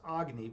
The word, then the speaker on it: Agni: So when I went into philosophy, I was like, I started reading about Agni, and I was like, or it's actually pronounced Agni, but I call myself Agni.